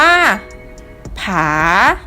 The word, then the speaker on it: ผา: ที่ 6 คำ ที่ 6 จะ ประกอบ ไป ด้วย พอ RR บวก เสียง วรรณยุกต์ ที่ สอง เสียง วรรณยุกต์ ที่ สอง คือ เสียง จัตวา คำ นี้ จะ อ่าน ออก เสียง ว่า ผา ผา ผา นัก เรียน